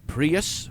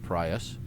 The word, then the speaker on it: Prius: There's a Prius, or Prius. I call it Prius.